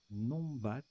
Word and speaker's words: numbat: C'est quoi soit Numbat. Alors, ça se prononce Nombat.